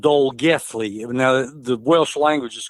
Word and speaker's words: Dolgellau: The double L is pronounced like a TH, so it's pronounced Dole Geth Lee. The AU at the end is pronounced E. So 10 miles outside of Dolgethley is the Nannu Estate, and that's spelled Nannau.